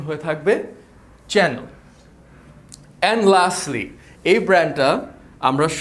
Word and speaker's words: Chanel: হ্যাঁ, সো it won't be Chanel, the proper pronunciation for this is চ্যানেল। আমরা যেরকম টিভির চ্যানেল দেখে থাকি, এটার প্রপার প্রোনাউন্সিয়েশন হয়ে থাকবে চ্যানেল।